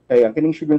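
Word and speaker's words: Sjögren: so ang ang pagtambal directed sa pagtambal sa sugar Syndrome kon mga mga topics sugar Syndrome arthritis temp mip disorder sakit Saang pos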